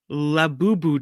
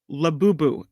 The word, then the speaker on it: Labubu: This is a Labubu doll. Labubu.